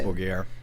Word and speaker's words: Dimmu Borgir: Dimmu Borgir.